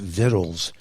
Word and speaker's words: victuals: It was not only a few years ago that I realized Vittles is spelled Victuals.